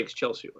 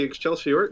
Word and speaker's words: excelsior: it it's a yeah it's more of a medieval latin pronunciation of excelsior you know you can say but it's really excelsior you know someone with